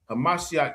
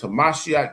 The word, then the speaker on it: Hamashiach: Hamashiach Yahawashi. You know what I'm saying? That's how you say it in the Hebrew. Christ is just a translation.